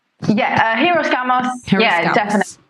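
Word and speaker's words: hieros: i are we even saying it right yeah heroes yeah definitely right uh so i'll explain hiroshima's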